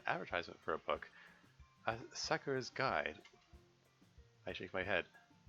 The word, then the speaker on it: Sakura: The husband was hanged on a Sakura tree. Sakura. I think in Japanese that you're supposed to pronounce you're supposed to put the emphasis on the first syllable.